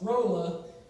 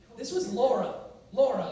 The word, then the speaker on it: Laura: This is Penelope, but they pronounce it Penelope. Who is this? Rolla, but this was Laura, and they call her Rolla.